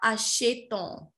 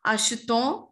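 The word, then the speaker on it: achetons: There the pronunciation is not asheton or ashete. It's ashton or ashte.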